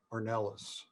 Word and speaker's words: Ornelas: How do you say his last name? Ornelas? Lee, help me out. Ornelas. Good. Yeah, that's correct. Ornelas, Andy Ornelas.